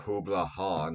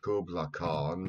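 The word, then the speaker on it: Kublai Khan: like so many others mispronounces the name of Hubla Han as Kubla Khan because, well, there's no hard C sound in the Mongolian language.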